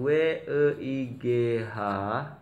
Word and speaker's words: weigh: Jadi di sini yang WEIGH ini sama membacanya seperti jalan ya.